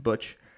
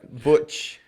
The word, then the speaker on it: BUCH: the future uh and it's buch not something else not the beer and it's uh pronounced butch uh we've had some had